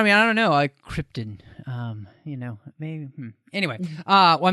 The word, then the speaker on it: Krypton: I because we have the official pronunciation of Krypton it is Krypton not Krypton as Marlon Brando was